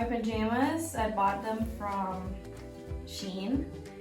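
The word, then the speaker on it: SHEIN: i bought them from sheen it's spelled as s h e i n it's she in and in um but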